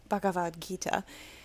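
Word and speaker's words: Bhagavad Gita: out of baga b I'm so bad at pronouncing Indian. It's bavad. Bavadita Bavad Gita.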